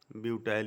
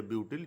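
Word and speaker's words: butyl: अब ये एक स्ट्रेट लाइन में है, इसलिए ये N और 1 2 3 4 कार्बन मीन्स ब्यूटाइल, ब्यूटाइल या ब्यूटिल, जो भी प्रोनाउंसिएशन आप करें।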